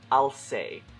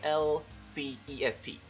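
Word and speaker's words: Alcest: and i'll say and because it's french i'm gonna go with the second pronunciation cuz it sounds right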